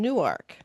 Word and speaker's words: Newark: I'm in Newark, New Jersey, so how good could it be?